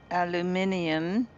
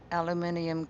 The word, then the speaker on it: aluminium: Um, I'm going to call this one um, aluminum. Sorry, I said it wrong before. aluminium casings, right?